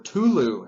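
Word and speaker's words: Cthulhu: idea originated with uh call of Kulu or uh cthulu or Tulu as I prefer to pronounce it but uh it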